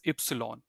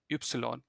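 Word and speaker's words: Ypsilon: X like X of y x this is ipsilon okay ipsilon this is set yeah set if you think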